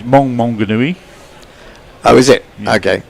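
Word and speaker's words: Maunganui: He says it's Monganui. Oh, is it? Yeah. Okay, Monganui.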